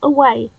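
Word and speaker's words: aue: Yes, I do know that how A-U-E is pronounced. It is away.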